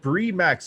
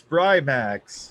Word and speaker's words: Brimax: it wrong anyways no it's not bree max it's brimax you said brian max yeah and that's the real way to say it you're the one that